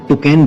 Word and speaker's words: Toucan: ये बेसिकली एक बहुत ही कलरफुल और लकी बर्ड मानी जाती है और इसमें यू साइलेंट रहता है, इसलिए इसको टोकेन बोला जाता है।